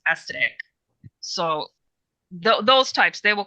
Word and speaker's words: Astaroth: She told me it's not pronounced Astaroth; it's pronounced Astatic.